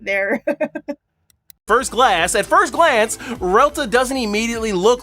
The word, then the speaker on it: RELTA: Alright, so before he starts to discuss about the developer Q&A on R.E.L.T.A. Okay, so I'm really sorry I pronounced it like R.E.L.T.A.